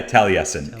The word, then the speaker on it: Taliesin: it's here in wisconsin whereas that's how you pronounce it okay yeah taliesin and uh and it's in spring green which